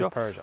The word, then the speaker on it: Peugeot: It is Peugeot. We'll do, in case anyone from the UK is watching, okay, it's Peugeot.